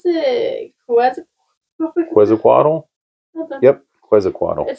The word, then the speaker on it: Quetzalcoatl: I cannot pronounce it. Quetzalcoatl? Yep, Quetzalcoatl.